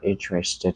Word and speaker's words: interested: Ví dụ như là khi mình nói là I'm not interested in the movie. Tôi không quan tâm đến cái bộ phim đó. I'm not interested in the movie. Thì interested có ba âm tiết.